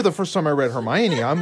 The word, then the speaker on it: Hermione: you say it i thought it was like hermione or something it was weird i didn't quite